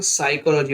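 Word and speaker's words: psychology: P silent वाले words देख लेंगे, साइकोलॉजी, देखिए साइकोलॉजी में पी साइलेंट है, और साइकोलॉजी नहीं पढ़ेंगे, साइकोलॉजी पढ़ेंगे, तो साइकोलॉजी का मतलब मनोविज्ञान, PNEUMONIA, तो इसमें प्न्यूमोनिया ना पढ़ के न्यूमोनिया पढ़ेंगे।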